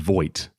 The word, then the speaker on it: Vogt: You said Voight.